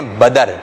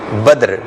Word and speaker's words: بدر: کچھ لوگ اس نام کو کہتے ہیں بدر، تو بدر جو ہے وہ درست نہیں ہے. درست تلفظ ہے اس کا بدر. کیا ہے درست تلفظ؟ بدر.